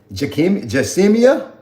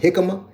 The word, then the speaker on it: jicama: I don't know if it's I don't even know how to pronounce this. Jacimia? How you pronounce this? It's Jicama. Jamesia?